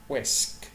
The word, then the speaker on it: whisk: الاتش سايلنت مش بنطقها. بقول whisk.